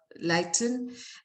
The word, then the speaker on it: Leighton: um first of all welcome uh megan uh leighton um as our speaker please correct me if i'm not pronouncing your last name properly megan you said